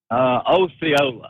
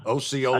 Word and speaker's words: Osceola: Osceola. Osceola. That's the way everybody down south pronounces it.